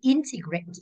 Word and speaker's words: integrate: Số 4 này, integrate. Có đuôi ATE thì rơi vào âm thứ ba, tính từ cuối đường ngược lại và thì integrate âm 1.